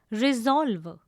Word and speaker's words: resolve: The last word is resolve. It is a noun. Again, the pronunciation is resolve. It has two syllables. The s becomes the z sound.